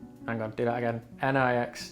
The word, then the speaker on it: Nixtamalization: That's spelled N-I-X-T-I-M-A. Hang on, do that again. Nixtamalization. Nixtamalization.